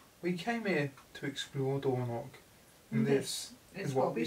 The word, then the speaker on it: Dornoch: So it's like a sound. So, Dornoch. It's like my maiden name, it's got a sound in it.